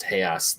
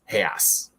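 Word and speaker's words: reais: have one tiny little nitpick, but it's a really dumb nitpick, so I'm not going to go into it. I nitpicked the hell out of it. Go ahead. When Paul Giamatti says 5,000 real, it's pronounced Hayas.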